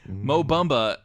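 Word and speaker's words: Mo Bamba: because for God's sakes Mo bomba or Mo bomba as Mike so that's the correct way to pronounce his name Mo bumba um got in there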